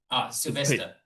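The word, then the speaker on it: Szilveszter: Sylvester. Sylvester, yeah. Just like Sylvester the cat. Just remember that.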